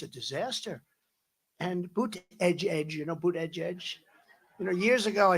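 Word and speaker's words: Buttigieg: And Boot Edge, years ago I said, how do you pronounce that damn name? And they said, Boot Edge, the word edge. That's the way it's pronounced, Boot Edge.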